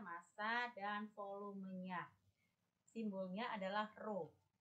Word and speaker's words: rho: Simbolnya adalah rho. Dibacanya rho, yaitu simbolnya seperti itu.